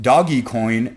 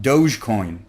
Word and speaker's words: Dogecoin: starting this week and doggy coin will be there I have recently found out that it is pronounced doggy coin and not Dogecoin some burners might say